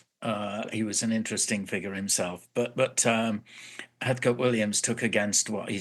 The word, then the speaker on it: Heathcote: Spelled Heathcote, but it's pronounced Heathcote.